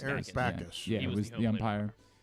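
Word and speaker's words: Bacchus: No, Backus. Eric Backus.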